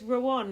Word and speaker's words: Rowan: But it's Rowan, like Lawan. Think of have a wonderful day. Right. Well, I said the one is like Obi-Wan.